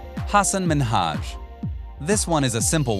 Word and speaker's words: Minhaj: The problem, though, was that Ellen said it as Minaj instead of Minhaj.